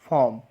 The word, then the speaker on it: form: तो एक वर्ड लेते हैं FORM। तो ये क्या बना? फॉर्म।